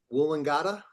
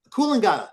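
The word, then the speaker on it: Coolangatta: Um, am I pronouncing it right? Um, Woolingada. Woolinga. Yeah, the beach. Yeah, the beach. Yeah. Oh, cooling. Koolingada. Thank you.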